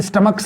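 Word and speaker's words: stomach: दोस्तों गलत हो जाएगा इस च का प्रनंसीएशन कब हो रहा है तो स्टमक करेंगे एस टी ओ एम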